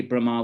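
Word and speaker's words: Brahmā: sons of Brahma Brahma it should be Brahma with a long a the the foreheaded Creator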